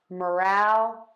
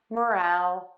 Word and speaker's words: morale: And to say morale, which is enthusiasm of a group, we are going to stress syllable number 2. So we have moral, moral, moral, moral, and morale, morale, morale.